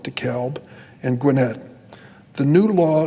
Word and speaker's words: DeKalb: metropolitan atlanta fulton cobb they pronounce it the cab we call it dekalb and gwinnett the new